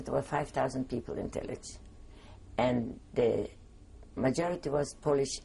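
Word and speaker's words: Tylicz: And the Tillich is spelled T-Y-L-I-C-Z, Tillich.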